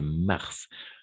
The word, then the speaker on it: mars: dans ce cas là oui on va prononcer le S c'est un peu bizarre mais c'est mars comme la planète d'accord et la même